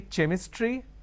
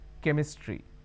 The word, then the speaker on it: chemistry: CH e mi STR why can I say chemistry no the pronunciation is chemistry now here this is ch our ome can